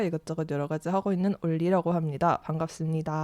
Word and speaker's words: 온리: 온리인데 그냥 우리나라식 발음으로 하면 올리라고 해도 될 것 같아요.